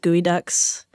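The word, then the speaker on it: geoduck: But I mean, you got it to do, is it they're pronounced gooey ducks? Oh God, yeah. Well, kind of.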